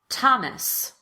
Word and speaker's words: Thomas: all on this slide the most common exceptions are words that are spelled with th but pronounced as t or the t sound let's go through them together repeat after me thomas teresa ty time thames